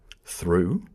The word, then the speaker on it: through: For example, there are many different pronunciations of O-U-G-H. Ought, through, enough.